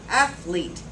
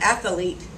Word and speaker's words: athlete: all know this word athlete two syllables athlete not athlete how many times have you heard somebody say that they're a great athlete why why would you add more syllables to a word and make it more difficult to say it's only got two syllables just use the two one of my favorite